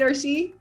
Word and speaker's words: Orsi: marketing expedition community and today's guest we have or she turbine did i say that right or she yes oh good thank you that's that's always